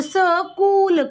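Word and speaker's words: school: आपका silent H आपका एच स्कूल में भी आपका एच साइलेंट है तो स कूल कूल माने होता है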